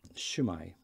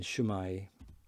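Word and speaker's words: Shwmae: So South Wales, Shumai. North Wales, Simai. The U in Shumai is a kind of, the W sound is an U sound phonetically.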